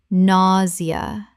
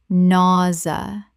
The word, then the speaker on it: nausea: nausea Correct pronunciation. nausea Two syllables in natural speech. The -sia makes a z sound.